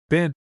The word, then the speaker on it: been: hit upon lay in the pronunciation of the word bin, which the English invariably make to rhyme with green, and we northerners, at least in accordance, I think, with the custom of Shakespeare's time, universally pronounce been.